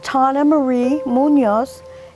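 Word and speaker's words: Tawna Marie Munoz: voice to be heard okay my name is Tana Marie Munoz and it's spelled t-a-w-n-a -m-u-n-o-z thank you foreign amazing people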